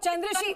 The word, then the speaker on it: चंद्रशी: चंद्रशी, मेरा नाम एक बार फिर से बता देती हूँ, आप गलत प्रोनाउंस कर रहे हैं। चंद्रशी है मेरी मेरा साथी नाम प्रवक्ता जी।